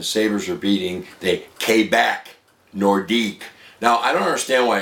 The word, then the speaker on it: Nordique: No, one Nordique. when you put well, true, but when you put a Q, U, and an E together, it sounds like a K.